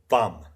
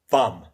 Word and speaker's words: VAM: So in the illustration Woodroofe provides, you see this crocodile, you see the 2 lotuses, and you see the Sanskrit letter for Vam.